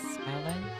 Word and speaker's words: island: For future reference, the S in island is island.